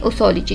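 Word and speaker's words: posology: उसको हम कहते हैं ओसोलॉजी। ये पी जो है ना इसमें साइलेंट है, तो उसको हम कहते हैं ओसोलॉजी।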